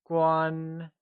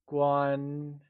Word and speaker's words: 关: Guan is pronounced using a high level tone. Let's try and say guan. It is said with a high level tone, like guan.